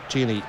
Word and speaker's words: Tierney: Tierney. Right, this is 8, rhymes with date.